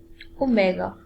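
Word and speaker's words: omega: हमने डब् लिखा है इट is pronounced S ओमेगा ओ एम ई जीी ए ठीक है ओमेगा इसके लिए य वडिंग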